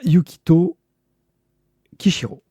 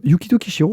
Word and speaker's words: Yukito Kishiro: Euh euh Yukito Kishiro, pas mal. J'ai Yukito de suite mais le Kishiro est pas du tout.